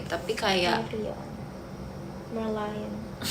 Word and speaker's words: Merlion: Marylion. Marlion. Sih, Marl. Mary Lion. I don't know how to say it. Tapi kayak Marlion. Merlion.